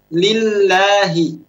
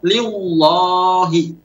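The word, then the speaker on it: لله: Kenapa harus dibaca lillahi dengan tipis muraqqaqah? Jawabnya karena di sana ada harokat kasrah yang mengawali. Idza subiqa bi kasratin. Apabila lam itu, yaitu lam yang ada di lafaz Allah, itu didahului oleh huruf harokat kasrah, maka wajib untuk dibaca tipis. Lillahi, bismillahi.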